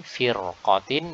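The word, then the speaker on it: فِرْقَةٍ: Nah, di sini firqatin maka ra dibaca tebal. Kenapa? Karena setelahnya adalah huruf isti'la akan tetapi harokatnya fathah, sehingga pengaruh ketebalan yang ada pada huruf qaf fathah itu lebih dominan ketimbang pengaruh tipis yang ada pada huruf fa di kasrah. Ya, sehingga ra ini ikut kepada yang tebal.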